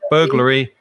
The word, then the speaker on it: burglar: okay there you are burglary and burglar burglar um that ar at the end of burglar is the same pronunciation as e r or and burglary burglary